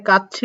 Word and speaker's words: 까치: Listening এর দ্বারা কি উচ্চারণ করছে কাচ্ছি, অর্থাৎ শেষে বসলে চয়ে সয়ের মতো উচ্চারণ হয়, তার সাথে যেহেতু হিসি আছে তাই কাচ্ছি।